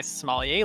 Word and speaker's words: sommelier: to go get my sommelier license. So I'm actually a certified sommelier. That's cool. And like how do you say it? Sommelier? Is that right? Yep.